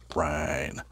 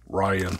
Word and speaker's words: Ryne: Ryne. Ryne. Ryne Sandberg. Always say that because there are a lot of people out there that pronounce his name Ryan. For whatever reason, they just call him Ryan.